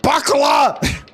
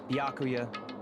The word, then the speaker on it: Byakuya: Bakala! It's Byakuya. I have severely been mispronouncing your name.